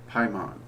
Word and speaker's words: Paimon: so you don't have to just trust my pronunciation of it, is Linan Tasa Jadan Paimon.